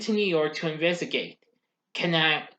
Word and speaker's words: Kananga: Kanaga, James Bond 007 is sent to New York to investigate. Kananga, I mispronounced it. Kananga, so my mistake, is also in New York visiting the UN.